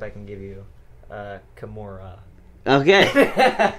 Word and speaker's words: Kimura: can give you uh kimora okay kimora they can't even say it right yeah it's not a mexican word it's japanese keep them keep in